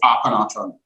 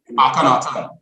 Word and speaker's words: Akhenaten: Is Akhenaton the correct pronunciation? That's doable, but just So tell me how you pronounce your name. so the Egyptian pharaoh is Akhenaten. Sorry? Akhenaten.